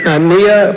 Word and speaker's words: Nia: Next will be Nia, followed by Natalie. It's Naya. You said it right the first time.